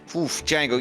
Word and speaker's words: Django: Yeah, because we both got a silent D. Yep. Mhm. That's how you spell it for sure. Django, you know, I really just like the quiet life of you, me, and Chiyuka.